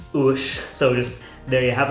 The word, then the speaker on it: Uais: One last note on the name, Uais. It's pronounced like O-O-S-H.